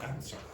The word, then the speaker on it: answer: Don't pronounce that W. So just say answer.